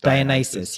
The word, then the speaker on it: Dionysus: how do you say it's a nice he's Dionysus yeah so but she was basically associated with